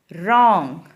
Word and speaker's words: wrong: Wrong. W is a silent.